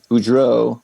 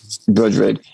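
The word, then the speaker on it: Bodrug: Boudreaux, did I say that right now? I'm saying it wrong. Dawn Bodrig, yeah. Bodrig.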